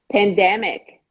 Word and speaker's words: pandemic: ready you're good to go how do you pronounce this word pandemic okay where is usually the mistake here the